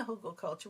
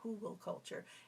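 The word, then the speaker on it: Hugelkultur: it was it was dry but in the hugel culture when I moved the wood chips and got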